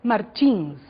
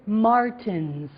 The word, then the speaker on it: Martins: Pay attention to the different pronunciations of the last name Martins. Okay, I am Brazilian. I said Martins. In your CD, we have some American people, and they said Martins.